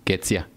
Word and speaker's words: Ketzia: And today we got Ketzia.